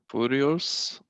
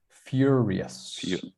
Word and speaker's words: furious: on this one so instead of foo it's few furious furious furious yes exactly it's kind of like or like uh curious when you curiosity so